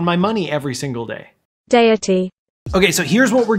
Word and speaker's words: Deity: yelling at me that i'm pronouncing dandy wrong i want to show you something deity deity deity so there I'm not wrong I'm just Canadian and